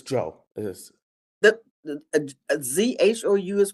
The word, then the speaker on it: Zhou: Is it Zhu or who? The last name? It's Joe. It is. The ZHOU is pronounced Zoe.